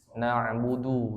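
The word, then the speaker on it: نعبد: Tadi hati-hati di na'budu yang pertama ya. Na'budu du ya. Du. Bukan du ya, tapi du. Ujung lidahnya bertemu gusi.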